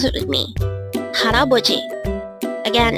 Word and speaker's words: 할아버지: Haraboji. This pronounced as a 4-syllable word. The first syllable is hal, second syllable is a, third syllable is bo, and fourth syllable is ji. Pronounce it with me. Haraboji.